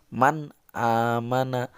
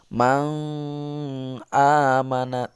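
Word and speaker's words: مَنْ آمَنَ: Nun matinya jelas dibaca Man aamana Halo Mang amanat tidak begitu itu atau Maung amanat tidak begitu tapi Nun matinya jelas dibacanya seperti Man aamana itu jelas Nun matinya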